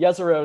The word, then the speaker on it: Jezero: I don't quite remember, but I've been told Jezero is the correct pronunciation.